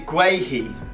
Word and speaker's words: Guehi: Now, let me get up the episode 1, because I was actually told how to pronounce his name, and it is Guehi. I'm gonna go with Guehi.